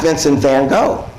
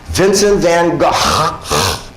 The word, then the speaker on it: Vincent van Gogh: Gogh right Vincent van Gogh wrong it's not Vincent van Gogh it's actually Vincent van Gogh that's how you pronounce his name then said their God now